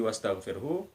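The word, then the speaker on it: واستغفره: Huruf yang terakhir di wastaghfirhu huruf H. Jadi bunyi H kita baca setengah.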